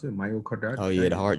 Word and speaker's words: myocarditis: out um showing you know four-year-old kids uh myocardial carditis that's how you pronounce it myocarditis oh you had a heart joint yeah um